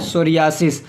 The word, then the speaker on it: psoriasis: पी S silent है, क्या पढ़ना है? सोरियासिस।